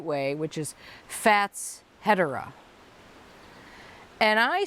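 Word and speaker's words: Fatshedera: in the garden last year because apparently he's pronouncing it the right way which is fats hetera and I say that's probably right but you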